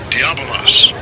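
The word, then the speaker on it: διάβολος: It's a Greek word diabolos. Strongs G1228. Diabolos. Diabolos. That's the pronunciation.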